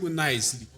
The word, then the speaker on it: Nvcely: You pronounce it as Nvcely Sings. Yeah, so the V, it's an A that's upside down. It's like when you say flame. Yes. I'm good. Nicely.